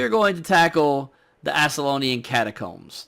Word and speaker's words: Ascalonian: So tonight, we are going to tackle the Ascalonian Catacombs. Did I say that right? Ascalonian. Yes. Ascalonian. Yes, with a C sound. Well, not in a hard C sound.